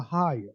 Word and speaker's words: AHAYAH: and the organization are higher uh higher did I pronounce that correctly yes sir Ohio okay good a